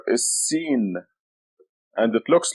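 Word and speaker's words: س: The next letter is Sin, and it looks like this. It has 3 teeth. Sin. That's the name of the letter. It's equivalent to S, as in Sam.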